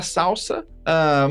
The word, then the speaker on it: SLSA: E aí, já vamos para a próxima palavrinha difícil aqui, que se fala salsa, mas se escreve SLSA, certo?